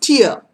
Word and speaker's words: tier: uh you have a the first t i e r is pronounced tear okay tear tear and